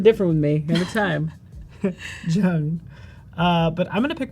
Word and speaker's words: Zheng: Zheng is how you say it. And Zheng? Yeah. I threw a Y in there for some reason. Every time, something different with me. Every time. Zheng.